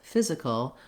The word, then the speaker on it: physical: Then the difference between physician and physics and physical is that in physics and physical, we have first syllable stress.